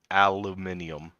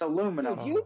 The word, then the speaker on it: aluminum: because some stupid-ass scientists misspelled it yes i mispronounced it it's it's aluminum aluminium i don't give a i